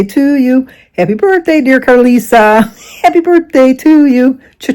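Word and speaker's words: Karlisa: first name right it's not carita it's car Carisa k a r l i s a Carisa see why couldn't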